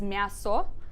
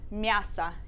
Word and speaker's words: мясо: why that O sometimes sounds like an A, even though when you look at it, it seems like it would be read as мясо. So don't worry about that for now. Just remember the pronunciation for this one, мясо.